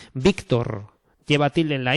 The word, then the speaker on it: Víctor: Porque si no ponen la tilde, hay que decir Ócar, Víctor y Héctor, ¿no? Y no es así. Estos nombres se pronuncian Óscar, Víctor, Héctor, ¿vale?